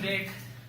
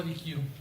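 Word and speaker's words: deque: Se pronuncia deck. Normalmente van a escuchar que lo pronuncian como DQ, pero la pronunciación es deck.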